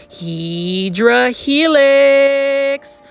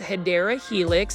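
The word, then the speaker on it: Hedera helix: Now this one right here is a Hedra Helix or the correct way to say it is Hideera Helix.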